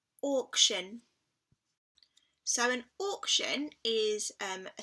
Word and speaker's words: auction: And the last word was the word auction. So we've got the or sound at the beginning this time.